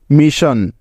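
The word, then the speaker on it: mission: এবার দেখো, বাকি আছে SION, সেজন্য তাদের পরিবর্তে নিয়ে নিব শন। কারণ এই নিয়মটাই তো আজকে আমরা শিখলাম যে যেখানেই পাবো SION এই চারটি বর্ণ একসাথে, সেখানেই তাদের উচ্চারণ করতে হবে শন এর মতো। মনে আছে তো সবার? কারণ এই চারটি বর্ণ মিলে একটি ওয়ার্ড প্যাটার্ন তৈরি করে, আর ওয়ার্ড প্যাটার্ন কখনো ভাঙা যায় না, সব জায়গায় একই থাকে। তাহলে এই শব্দটির উচ্চারণ কি হবে? MIS মিস এবং SION শন, মিশন।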